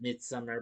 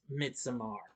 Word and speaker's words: Midsommar: Well, as I pronounce it, Midsummer, but it's Midsommar.